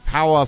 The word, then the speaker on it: Powah!: last time we used it it was when power first came out I know it sounds like